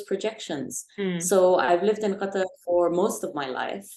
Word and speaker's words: Qatar: because everyone's like oh is that how you pronounce Qatar yeah you know I didn't know that and